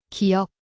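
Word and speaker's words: 기역: 이것은 깁니다. 기영이라고 읽죠. 김교수님이 천천히 발음하자 저도 따라했습니다. 기억.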